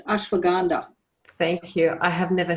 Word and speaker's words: ashwagandha: I don't know what ashwagandha, how do you say that, Brandon? Ashwagandha? It's ashwagandha.